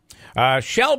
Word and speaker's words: Chele: incacha stay optimistic okay she'll by the way is spelled CH ele so when you see the name you'll you'll recognize it she'll fire Li for US